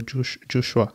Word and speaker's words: Joshua: Joshua Shijuade.